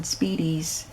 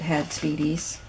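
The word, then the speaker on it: spiedie: New York who had speedies. So it's spelled S-P-I-E-D-I-E. It's not like speedy as in fast. It's Italian.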